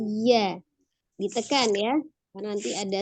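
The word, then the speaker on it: ي: Ya, jadi pengucapannya bukan ya tapi ya.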